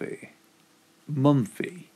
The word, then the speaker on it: Mumfie: a month a magic of inches a month a month fee yes that's that's how you pronounce it right so magic inventors of mumfie